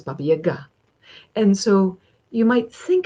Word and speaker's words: Baba Yaga: Her name is not Baba Yaga. Her name is Baba Yaga.